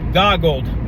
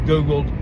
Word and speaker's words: goggled: Goggled, not Googled, goggled.